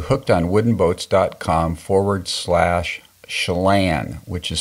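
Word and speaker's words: Chelan: long go to hooked onws dcom forward SL shalan which is spelled c h e l a n and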